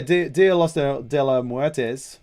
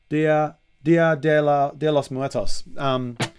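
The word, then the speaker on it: Día de los Muertos: But yeah, Dia de los Muertes. Did I say it right? Dia de los Muertos.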